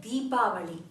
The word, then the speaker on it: Deepavali: and today is a very special lesson about deepali yes so in Canada we don't pronounce as a Diwali because Diwali has a